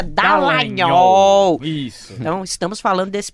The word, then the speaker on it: Dallagnol: Em junho de 2019, aliás, me corrija, porque eu sempre chamo ele de Dallagnol, mas a pronúncia é Dallagnol.